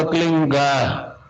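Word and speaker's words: क्लीं: की मात्रा और बिंदी, उसका उच्चारण होगा क्लीन गा। गा की ध्वनि निकलेगी पीछे।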